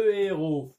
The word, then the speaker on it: héros: فأقول لو هيرو لو هيرو. أي كذلك لا تنطق.